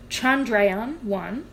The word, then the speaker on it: Chandrayaan-1: Sorry, let me pronounce this properly. So, Chandrayaan-1 and NASA's Lunar Reconnaissance Orbiter, they found evidence